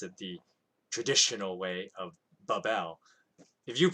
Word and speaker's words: Babel: ancient pronunciation as opposed to like our modern pronunciation. Of course, if you call it Babel, that's completely fine.